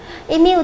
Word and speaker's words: immune: Câu số 32, đáp án A chúng ta đọc là immune. Immune thì cho âm sẽ rơi vào âm thứ 2, là vì cái âm I là âm ít chứa trung âm.